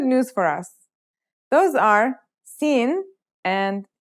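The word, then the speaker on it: سين: Those are Sin and Shin. Let's start with Sin. Sin sounds just like the English S.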